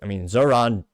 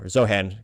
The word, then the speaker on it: Zohran: And again, Zohran did, or Zohan, because I think it's funnier to mispronounce it that way.